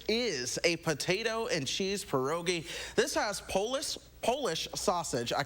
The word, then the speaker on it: pierogi: Yeah, pierogi.